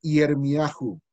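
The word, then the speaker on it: Yirmiyahu: primeros que aparecen allá, tenían la costumbre de agregarle una letra U al final, de manera que lo pronunciaban Yeshayahu y Yermiahu para Isaías y Jeremías.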